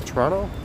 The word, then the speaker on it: Toronto: to say toronto yeah you don't really pronounce a hard t on toronto you either pronounce it as like a soft d i guess toronto or you you just skip it actually i don't really